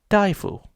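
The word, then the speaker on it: 大夫: Under normal circumstances, this character for great or big would be pronounced da. However, if you stick this character next to it, it becomes daifu, which means doctor.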